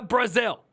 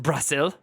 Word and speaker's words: Brasil: boys we're going to Brazil I'm going to Brazil okay damn chicken Tiki Masala look good in